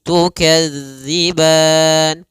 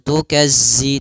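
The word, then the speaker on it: تُكَذِّبَانِ: harakat fabiayyi alaikuma kemudian tukadziban hati-hati pada lafal tukadziban di sini jangan dibaca dengan za jangan tukazzi tapi tukadzib panjang ban boleh dua harakat,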